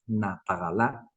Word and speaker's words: nataxalá: decir nos tapamos, ñapoñi, o la palabra natagalá, que se escribe nataxalá a simple vista, pero la palabra correcta, digamos, la pronunciación es natagalá.